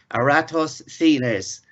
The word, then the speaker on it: Eratosthenes: Now it's quite difficult to pronounce this, but it's Eratosthenes, and he lived there 276 to 195 BC.